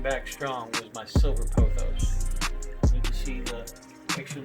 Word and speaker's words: pothos: Let's say it right. The correct term is pothos.